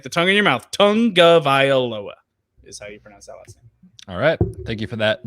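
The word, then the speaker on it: Tagovailoa: and it was fascinating is literally tongue like the thing in your mouth tongue uh Vai Lowa I'm gonna blow it that's how you pronounce that it is not Tunga viola or I don't even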